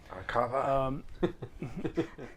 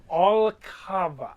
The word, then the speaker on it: Alkava: Archava. Agave? Arcana. These guys, they like to make sport out of deliberately mispronouncing every word that I say to them. Alkava.